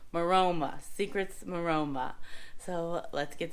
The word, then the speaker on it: Maroma: What is it pronounced? Maroma.